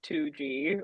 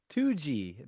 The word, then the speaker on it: Tsuji: So, the last name is actually pronounced 2G. Like, it literally looks like a two and a G. Like, that's how you can remember it. Yeah. So, double G. 2 G. You know, Tuji, that that's how you pronounce Tuji.